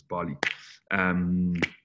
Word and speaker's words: Bale: I know it says it's pronounced in our world as Bale, but a lot of people actually pronounce it as Bali.